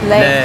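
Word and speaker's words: lê: Le.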